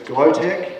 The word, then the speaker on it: Glowtech: So it's Glowtech, as in glowing technology, Glowtech Woods in Rock Valley.